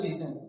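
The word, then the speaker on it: listen: जैसे example लिसन क्या लिखा हुआ है? लिसन लिसन का मतलब क्या होता है? सुनना। लिसन का मतलब सुनना। तो यहां जो टी है वो क्या है? साइलेंट।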